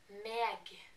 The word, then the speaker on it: meg: not they, but like, when I say my, me, I say my, but they say meg, meg. It's written exactly the same, but they just pronounce the G that we don't.